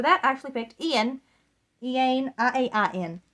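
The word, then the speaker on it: Iain: Ian, I-A-I-N. It's not how you normally spell Ian, but Ian is the best pronunciation I got for this book, for this one.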